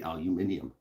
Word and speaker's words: aluminium: that aren't there, except for the way that Brits say aluminium.